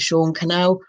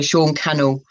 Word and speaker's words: Sean Cannell: at the top at sean canal no it's pronounced like channel channel so sean cannell and hashtag ray with